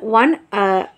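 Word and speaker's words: one: অ্যান বসে না, কারণ ও ইউ এগুলো মানে ভাওয়েল হলেও উচ্চারণটা কিন্তু ওয়া হয়ে যায়, ওয়া, ওয়ান, ওয়া।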